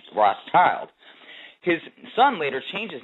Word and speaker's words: Rothschild: the Red Shield Firm, pronounced in German as Rothschild.